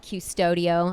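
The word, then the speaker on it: Qustodio: um it's a program it's an app called custodio i believe that's how you pronounce it q-u-s-t-u-d-i-o you would download the app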